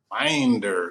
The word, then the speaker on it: Winder: Winder. You got to wind it. Winder. Got to get that southern twang in there.